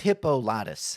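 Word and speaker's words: Hippolytus: Hippolitis. Is that how you say his name? Holies or something? Hi P. It's Hippolitis.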